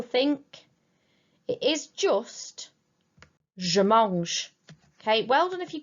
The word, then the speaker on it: mange: If you were guilty of saying je mange, please be careful and remember that the E at the end of that present tense verb is silent.